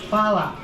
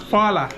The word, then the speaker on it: hvala: Hvala. Hvala. Hvala.